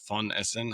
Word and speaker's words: Von Essen: So my mom is Ute Von Essen, or Von Essen, how we would pronounce it.